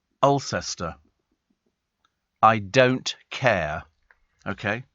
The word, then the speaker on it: Alcester: remember that actually and Joe says Alcester is pronounced like elester I don't care okay